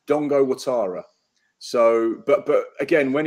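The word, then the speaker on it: Dango Ouattara: Dongo is um because I always call him Dango Tara it's actually Dongo Tara is it I've been told it's Dongo so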